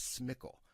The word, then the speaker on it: SMCL: on and in parentheses SMCL, which Stata actually pronounces that as SMCL.